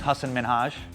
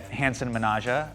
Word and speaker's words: Hasan Minhaj: So my name's Hassan Minhaj. I would get Hansen Minaja. I'd get Sahan Minha.